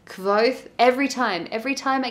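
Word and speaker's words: Kvothe: our main character for this book is called quoth kevoth every time every time i get stuck on his name it's spelt k-v-o-t-h-e the story is essentially a fantasy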